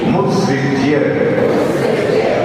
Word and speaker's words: मुत्सृज्य: परोकृति मुत्सृज्य, सृज बोलना, सृज बोलना, मुत्सृज्य, परोकृति मुत्सृज्य, स्वरूप स्वरूप